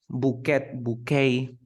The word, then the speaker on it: bouquet: Bouquet. Then we have rapport. Depot. Look at the last word. We never pronounce the T.